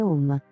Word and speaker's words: Om: suono del mantra Om anche se è scritto ohm si pronuncia Home le tre lettere a